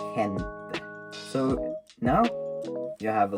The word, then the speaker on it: gente: Also, G is also pronounced different. So, for example, in Spanish word for people, gente, you pronounce that in a different way. You don't pronounce gente, you pronounce gente.